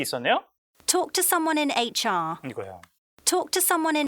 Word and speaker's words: HR: 자, HR 이렇게 발음하죠. 자, HR이에요. 자, 영국 성우빈이기 때문에 이제 R coloring이 빠진 거죠.